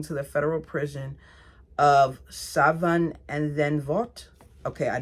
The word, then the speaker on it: Scheveningen: authorities and taken to the federal prison of Scheveningen and then Vought. Okay, I know I pronounced that wrong.